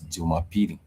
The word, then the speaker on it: Jumapili: For Sunday, we refer to that as Jumapili.